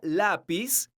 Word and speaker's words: lápiz: La palabra lápiz es una palabra grave porque su sílaba tónica es la sílaba la. Esta palabra termina con la consonante Z. Entonces, tiene un acento ortográfico que se escribe en la vocal de la sílaba tónica, que es la letra A.